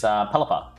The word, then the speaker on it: Pelipper: The Pelican one is, his name is Pelipper. Yes! Not Pelly Pepper.